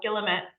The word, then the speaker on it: Guillemette: I think she pronounces the L, Guillemette.